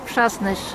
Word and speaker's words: Przasnysz: It's pronounced Presnish.